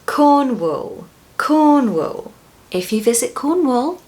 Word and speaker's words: Cornwall: But the second syllable is not pronounced the same way as wall.